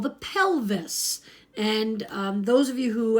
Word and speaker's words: pelvis: So pelvis rhymes with Elvis.